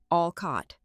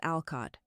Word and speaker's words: Alcott: She pronounced it Allcott, emphasizing the wrong syllable. It was Alcott, like the author.